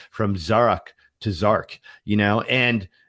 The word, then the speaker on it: Zarak: My name is Zarak, and I will work with you for you to learn how to say it over and over again until you get it right, you know, because I don't even resonate with Zark anymore.